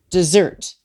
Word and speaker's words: Desert: it's spelled mount desert desert is actually pronounced dessert the french pronunciation in homage to samuel